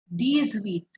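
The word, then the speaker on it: dix-huit: says 17 the set 17 the set 18 these wheat 18 these wheat 19 these nerve 19 these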